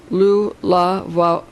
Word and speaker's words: Lughnasadh: Lug's superior cleverness and versatility is indicated by his titles Lughnasadh, pronounced Lu-la-va-vada, and Samhioldanic, Savildwanuk, with the CH as in Loch, like in Loch Ness Monster, I guess.